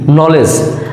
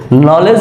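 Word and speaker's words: knowledge: প্রচলিত সবচেয়ে পরিচিত আমাদের একটি শব্দ যেটা হচ্ছে নলেজ দেখেন নলেজ বানানেও কিন্তু ডি আছে এন কে এন ও ডব্লিউ এল ই ডি জি ই নলেজ নলেজ মিনস জ্ঞান এখানেও ডি এর উচ্চারণ হয়নি এখন প্রশ্ন হলো কেন আমাদের এই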